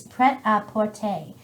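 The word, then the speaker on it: Prêt-à-Porter: Or Pret a Porter. I just hear people pronounce Very it English.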